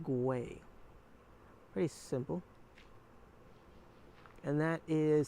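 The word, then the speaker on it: güey: talking about an animal you spell it with a G it's g u e y it's pronounced way pretty simple and that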